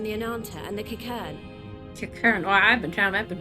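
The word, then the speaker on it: Qiqirn: Kikern. Oh, I've been pronouncing that wrong.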